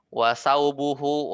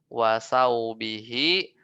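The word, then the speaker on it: ثوبه: Kemudian di sini juga wasaubuhu, wato'amahu. Ya, ini wa'atof ya. Jadi baca yang benar adalah wasaubihi, wato'amihi, majrur ya.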